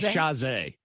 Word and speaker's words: Chasez: JC Chazé is what it is.